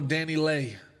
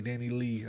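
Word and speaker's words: DaniLeigh: with his baby mama danny lay i think that's how you say her name danny lay danny lee i think it's danny lay now the baby got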